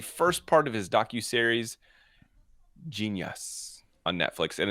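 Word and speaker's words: Jeen-yuhs: part of his docu-series genius on netflix and it's spelled j-e-e-n-y-u-h-s first of all genius move smart move i like it i'm sorry that's just saying genius and you spell it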